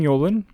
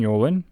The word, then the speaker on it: Yolen: ends with E, and her last name vaguely rhymes with Bolin. Unbelievably specific, right? The book's name is Wizard's Hall. It was written by Jane Yolen and published in 1991,